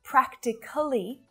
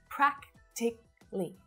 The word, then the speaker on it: practically: another very common adverb so it's not practically it's just three syllables practically practically practically i've practically